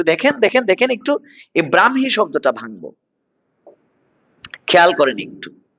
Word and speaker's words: ব্রাহ্মী: শব্দটার উচ্চারণ হচ্ছে এটা, ব্রাহ্মী। কখনো ব্রাহ্মী, কখনো ব্রাক্ষী, এরকম বলবেন না, ব্রাহ্মী লিপি, ব্রাহ্মী লিপি নয়, ব্রাহ্মী লিপি। ব্রাহ্মণবাড়িয়া নয়, ব্রাহ্মণবাড়িয়া, ব্রাহ্মণবাড়িয়া, ব্রাহ্মণ নয়, যুক্তবর্ণ ভাঙলে হ ম, উচ্চারণে ম হ, ব্রাহ্মী লিপি, ব্রাহ্মী লিপি, ঠিক আছে।